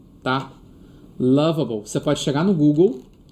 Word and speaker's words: Lovable: Ó, eu queria te mostrar uma inteligência artificial chamada lavable, tá? Loable. Você pode chegar no Google e pesquisar por se escreve lovable, tá? É lovable mesmo, lovable, tá?